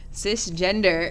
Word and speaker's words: cisgender: time is up Sir cisgender is describes a person whose gender identity matches the sex male or female originally identified on their birth certificate cisgender which is pronounced CIS gender describes only a person's